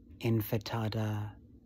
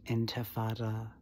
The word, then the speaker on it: intifada: Just like there's a major difference between infitada and intifada. And to mispronounce deliberately, it would seem, intifada as infitada, as that stupid ass